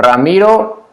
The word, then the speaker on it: Ramiro: of the word so ramiro one r whenever it starts with one r is the strong sound but if the one